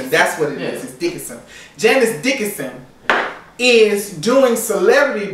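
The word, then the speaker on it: Dickinson: Janice Dickerson so her name is really not Dickerson it's Dickerson dick that's what it is is Dickenson Janice Dickenson is doing Celebrity Big Brother over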